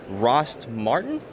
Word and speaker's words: Rost Martin: We are at a company that I haven't ever heard of before, Rost Martin?